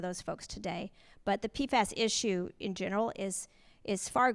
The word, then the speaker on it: PFAS: Now, am I saying it right? PFAS? Yeah. PFAS, okay.